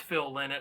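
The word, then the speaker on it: Phil Lynott: a while back on thin lizzie where i butchered his name uh but it's phil lynette i've been corrected uh but phil in it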